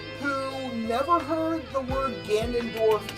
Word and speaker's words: Ganondorf: Do you also pronounce it Janendorf? No. I was about to pronounce it the Dread. Great as Dread. Yeah. So, there's this one VTuber who never heard the word Ganondorf said for the longest time, and she always